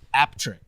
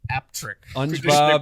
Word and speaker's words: Appletreewick: Traditionally pronounced apt trick. you. Aptric. Apple tree. Wick. Three words. Traditionally traditionally pronounced aptric and his friend Aptrick is a village